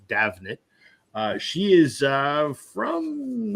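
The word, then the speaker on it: Damhnait: I know it looks like it should be pronounced Damn Nate, but it's Davnet.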